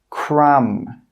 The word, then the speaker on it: crumb: the end of a word, it's normally not pronounced. Some common examples are climb, crumb, tomb, bomb, comb.